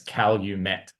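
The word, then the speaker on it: Calumet: um but the states they actually pronounce it as Cal you met um and yeah not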